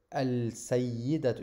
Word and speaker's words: al-sayyidat: But just to tell you, al-sayyidat, you see, I don't pronunciate the alif.